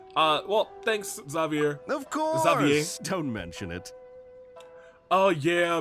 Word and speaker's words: Xavier: Xavier. Don't mention it. Oh yeah, because he comes from Fontaine, and Fontaine would have that pronunciation. Okay, yep, Xavier makes sense.